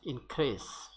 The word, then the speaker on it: increase: Example, realize, rise, but increase. Increase. This SE is not pronounced as za, rather it is pronounced as sa, and it creates a kind of confusion among the non-native speakers of English.